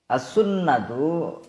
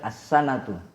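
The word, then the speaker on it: السُّنَّة: As-sunnatu di dhammah bacanya su dan pakai tasydid. As-sunnatu bukan as-sanatu.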